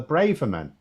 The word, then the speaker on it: Braverman: a funny one CU I used to say sweller Braven right and then I was getting the impression a lot of people oh it's often pronounced bra bra so I ended up saying braan and then I heard um when an actual Tory MP referred to her as sweller Braverman and I thought to